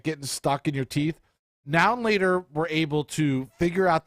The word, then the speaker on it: Now and Later: Now and Laters are good. Affectionately pronounced as a now and later. No, everybody always skips the end and they're like, now later.